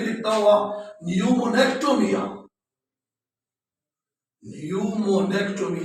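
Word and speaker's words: pneumonectomy: को कहा जाता है न्यूमोनेक्टोमी। ये पी साइलेंट है, न्यूमोनेक्टोमी।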